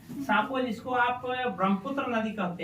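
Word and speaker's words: Tsangpo: यदि पूरा लिखिएगा तो इसको लिखिए, यह है Indus सांगपो सेच्योर zone. Indus सांगपो, सांगपो टी से शुरू होता है, टी साइलेंट है। सांपो जिसको आप ब्रह्मपुत्र नदी कहते हैं।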